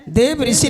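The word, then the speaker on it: देवर्षि: नहीं, देव ऋषि नारद बोलना चाहिए।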